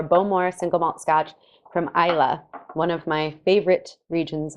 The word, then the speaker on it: Islay: first distillery on isla isla spelled i-s-l-a-y pronounced isla not um so isla is